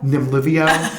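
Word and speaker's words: Nemluvio: Nimluvio.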